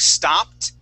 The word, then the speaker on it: stopped: pronounce that ID sound every time else is going to be a d like widened okay and turned happened or that t sound like stopped pressed and clutched okay so we have